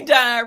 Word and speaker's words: Dine: Because I feel like, hey, y'all, my name is Dine Rhymes with Divine.